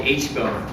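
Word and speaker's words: aitchbone: the back here there's a bone here called the h-bone it's spelled a-i-t-c-h the first time i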